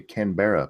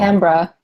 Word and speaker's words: Canberra: Why can you guys never say Canberra properly? Did I Yeah, get it's it wrong? Canberra. Oh, Canberra?